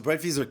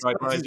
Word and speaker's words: Breitwieser: I was calling it Breitwieser as well. I speak French, but when I switch to English, everything gets all anglicized. It's like Budweiser beer and Breitwieser art thief.